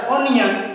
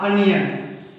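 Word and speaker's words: onion: ओ sound, ओ का हम लोग जब भी साउंड निकालते हैं तो अ निकालते हैं, नॉट ओ। जैसे इसको बोलते हैं हम लोग ऑब्जेक्ट, नॉट ऑब्जेक्ट। क्या? ऑब्जेक्ट। उसी तरह हम लोग के पास आया है, प्राइमरी स्कूल में पढ़े होंगे तो बोलता है ऑनियन, नॉट अनियन। क्या? अनियन, अनियन, okay.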